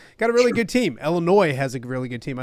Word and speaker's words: Illinois: a really good team Illinois has a really good team I don't want to the S is silent obviously but the Illinois has got a really good